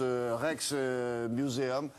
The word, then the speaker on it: Rijksmuseum: Ça se prononce Rijksmuseum.